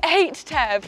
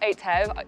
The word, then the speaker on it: 8TEV: It's the 8TEV, not 8TEV. That's not how you say it.